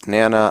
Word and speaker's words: Nana: also and then finally is Nana I believe that's how it's meant to be pronounced which is the probably